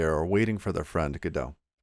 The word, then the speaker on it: Godot: waiting for their friend godot so i try to pronounce it with a more french accent although my french is